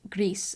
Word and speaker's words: Gris: So like my absolute favorites would have to be Gris, and I think it's Gris. I think that's how you pronounce it. I think it's the Spanish word for gray.